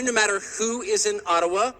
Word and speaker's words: Ottawa: It cannot be taken from you no matter who is in Ottawa, or as we say Ottawa, which by the way is the correct pronunciation according to my friends in the Ojibwa community.